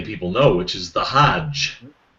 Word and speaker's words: Hajj: know which is the Hajj H ajj it's often transliterated or in Egypt you'd even pronounce it hag it would be ha